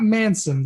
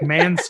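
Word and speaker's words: Måneskin: Not Manson, like Manskin. It's spelled all weird.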